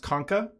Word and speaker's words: Concha: the Y we have the Concha which I've also heard pronounced konka and then the only